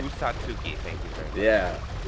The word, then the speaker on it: Usatsuki: Usatsuki is what I would say. Usatsuki, thank you very much.